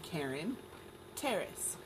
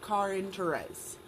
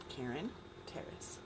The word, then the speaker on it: Caryn Terrace: Yes, you pronounce my name Caryn Terrace, not Caryn Therese.